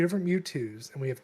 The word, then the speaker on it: Mewtwo: It's pronounced Mewtwo, not Mewtwo.